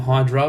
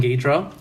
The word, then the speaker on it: Ghidorah: King Ghidorah, who people just call him Hydra, but get your shit right, it's King Ghidorah.